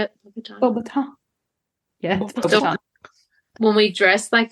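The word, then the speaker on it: Beauxbatons: Bobaton.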